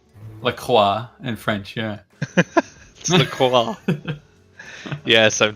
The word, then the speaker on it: LaCroix: you drinking some yes how do you say it like Croix Lacroix yeah well that's how they say in New York so Lacroix Lacroix in French yeah yes